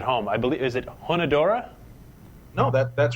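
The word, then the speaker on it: Hunedoara: I believe, is it Honodora? No, that's right. It was Honodora Castle.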